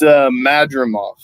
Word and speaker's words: Madrimov: It's Madrimov.